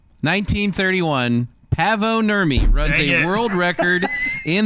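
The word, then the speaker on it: Paavo Nurmi: rhymes with uh Blavo Hermy. Blabo Hermy. No, it does rhyme. That's very well done. Blavo Hermy. 1931. Pavo Nurmy runs a world record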